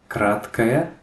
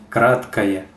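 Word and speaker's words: краткая: short I, that's I kratkaya. Where remember that this O is pronounced like an A because the stress is here, kratkaya. So this is almost like it's kaya, kratkaya.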